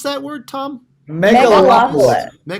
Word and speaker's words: Megalopolis: How do you pronounce that word, Tom? Megalopolis. Megalopolis.